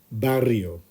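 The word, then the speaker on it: barrio: my neighborhood n me bario now remember there's a double r in the middle so you need to try and roll those RS if you can so let's try that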